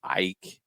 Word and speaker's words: AEK: say it correctly uh aek is how some people will say it i believe they pronounce it as ike athens um he actually was